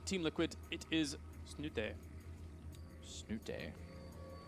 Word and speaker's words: Snute: Snute. I'm pretty sure that's actually very close to how you pronounce his name Yeah. in Norwegian.